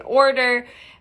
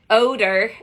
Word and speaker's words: odor: can't do that because there's gonna be an order odor i keep saying it wrong odor and we don't want